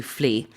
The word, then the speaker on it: flee: people were told to flee. F L E. This is different to the flea in flea market. Yes, it's spelled differently. Yeah, the spelling is different, but the pronunciation is the same.